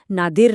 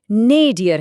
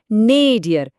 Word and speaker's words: nadir: और हाँ, एक बहुत जरूरी बात, इसका सही उच्चारण नादिर नहीं बल्कि नेडियर है। मेरे साथ बोलिए, नेडियर।